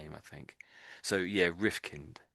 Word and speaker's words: Rifkind: So, you want to say kind, but we as a name, this is a surname. It doesn't get pronounced that way.